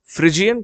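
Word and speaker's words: Phrygian: इसे रेड फ्रिजियन कैप कहते हैं, फ्रिजियन इसका प्रोनाउंसिएशन है।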